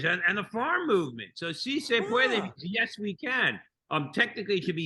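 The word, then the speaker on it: sí se puede: I'm not slaying the way that this is pronounced. Is se pueda? Oh, si se puede, which means yes, we can.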